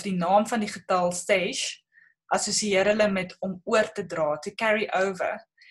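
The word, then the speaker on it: שש: Dan wil ek net byvoeg, die Hebreëse woordjie vir die getal 6 is shesh. Dis amper soos jou in Spaans ook sal uitspreek, 6 of shesh.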